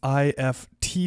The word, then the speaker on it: IFTTT: to you that is ift now i know it's i f t t t but they do pronounce it ift like gift without the g and ift is an